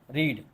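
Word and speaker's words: read: पकड़ लो रीड क्या रीड इसका सेकंड फॉर्म क्या होता है रेड और थर्ड फॉर्म क्या होता है रीड स्पेलिंग सेम है कि नहीं लेकिन पढ़ते क्या रीड रेड रेड कहने में रेड पढ़ देते हैं इसको ताकि सामने वालो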